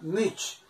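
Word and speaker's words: mucc: Ese sonido ch se escribe con doble C. Si yo escribiera así, ¿qué digo acá? Much. No, porque sería así. ¿Qué digo? Y no tiene resonancia, no tiene correspondiente de sonido para pronunciarlo. Entonces, en la ortografía, en la grafía, aparece esta doble C, para que al fin de palabra suene sh, much, biroch.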